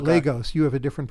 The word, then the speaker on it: Lagos: We call it Lagos. You have a different pronunciation, Lagos. Right? Yeah, but we call it Lagos.